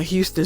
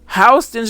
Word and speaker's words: Houston: I saw him on a huge billboard yesterday on Houston Street, Mimi said, pronouncing the street's name as one should the city. He where Houston Street? Lena corrected. Hston Street. I saw it.